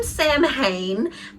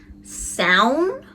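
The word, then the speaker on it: Samhain: They call him Sam Hain, but my wife says that it's actually pronounced Sown.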